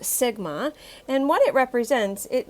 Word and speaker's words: sigma: see this greek letter of the alphabet it's pronounced sigma and what it represents it means to sum